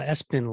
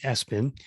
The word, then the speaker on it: Espin: to show you the uh espen line of e-bikes or e-spin as a as i like to call it but i believe they pronounce it s-bin i'm an affiliate of